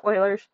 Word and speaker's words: Euler: it's spelled like Euler's but the name is pronounced Euler's and a natural log is a log with